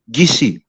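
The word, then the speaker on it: Kissi: One is called the Gola tribe, which is eerily similar to Gola, and we have another tribe called the Kisi, but we pronounce it Gisi, which Yeah.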